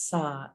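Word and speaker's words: Sah: On the exhale, the mantra is Sa, S-A-H, Sa.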